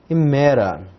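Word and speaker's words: ἡμέρα: Emera. Vejam que nós temos um espírito aqui, mas esse espírito é brando, então ele não é pronunciado.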